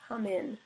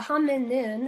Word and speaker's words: hominin: people okay um so the hominin we're missing a syllable the ham and nin fossil record indicates that